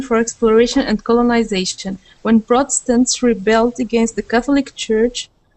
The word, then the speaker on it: Protestants: okay that word is Protestants Protestants so Protestants so that first T we're going to treat as a d Protestants okay Protestants okay